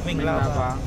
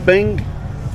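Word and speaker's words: မင်္ဂလာပါ: Hello, Mingalaba. Mingalaba. Yeah. Mingalaba. Is it Bing? Ming. Ming. Ming. Mingalaba.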